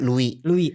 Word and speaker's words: Louis: Tulisannya sih Louis. Oh, tulisan Louis. Bacanya Louis. S-nya kemana itu? S-nya hilang.